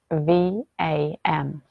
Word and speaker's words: Vam: The sound is spelt V-A-M, but it's pronounced V-U-M.